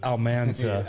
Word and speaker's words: Almanza: Alman almana almana yeah yeah it's kind of like Bonanza I'll get it right I'll get it right Alman J almanza almanza right no almana